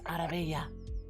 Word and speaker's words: Arabella: It's like no, that's not how you say it. It's Arabella. Arabella.